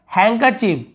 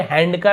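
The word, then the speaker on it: handkerchief: इसे आपने सुना होगा हैंकरचीफ, है ना, हम क्या पढ़ते हैं हैंकरचीफ, हैंकरचीफ यानी होता है रुमाल, लेकिन यहाँ पे हैंडकर ऐसे नहीं पढ़ेंगे, हैंकरचीफ ऐसे पढ़ेंगे, तो यहाँ पर डी साइलेंट है।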